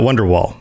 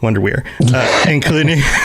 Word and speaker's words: Wonderweir: This text depicts the events leading up to the refugees escaping Nirn on a ship known as the Wonderweir. Not Wonderwall, Wonderweir, including the erasure of the Altmer race and the Nerevarines' confrontation with the Numidium, utilizing Akulakon.